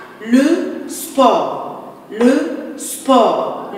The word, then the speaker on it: sport: Le sport. Le T est muet.